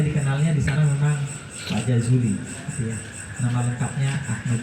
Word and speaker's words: Jajuli: Saya dikenalnya di sana memang Pak Jazuli, gitu ya. Nama lengkapnya Ahmad Jazuli. Cuma masalah lidah memang kadang-kadang saya lebih suka pakai Z sebenarnya. Kalau pakai J itu kayaknya nyebutnya agak susah, Jazuli gitu. Gitu.